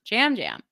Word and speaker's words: Yam Yam: I think he is Puerto Rican, and obviously people speak Spanish there, and while we use the same alphabet, they have some bonus letters though.